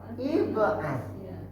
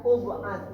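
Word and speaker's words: ابعث: Ib'as. Ya, kenapa tidak ub'as ibu baca? Huruf ketiganya tidak baris depan.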